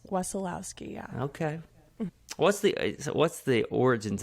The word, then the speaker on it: Wesolowski: It's none other than Huntsville musician and leader of the Band, Wesolowski. Did I get that name? It's Wesolowski.